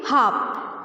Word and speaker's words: harp: हार्प। आर आपका silent है, तो क्या बोलेंगे? हार्प।